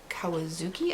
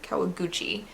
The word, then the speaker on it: Kawaguchi: the cafe by uh toshikawa kawazuki i think is how you say his name kawaguchi sorry toshikawa kawaguchi and this is the